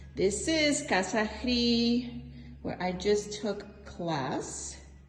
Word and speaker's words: Hridi: So, it's Casa like house, Hridi. It's a syllable, a Sanskrit syllable, h r i.